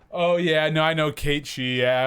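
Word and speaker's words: Cait Sith: But But really like He's pretty unique as far as oh yeah, no, I know Kate She. Yeah, I just pronounced it wrong. Yeah. Gaelic pronunciation.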